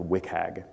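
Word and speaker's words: WCAG: web content accessibility guidelines or the acronym is pronounced wick hag is how that's done in the in the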